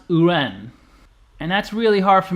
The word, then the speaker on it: yuan: in Chinese who run even though it's spelled y-u-a-n it's not pronounced Yuan it's pronounced uran and that's really hard